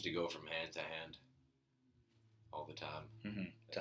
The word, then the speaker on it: Han: The ship just seems to go from hand to hand all the time. Mm-hmm. To Han. Ooh. So Lando calls Han like immediately, or Han. Yeah. Immediately. And he's like, that's wrong, but that's fine.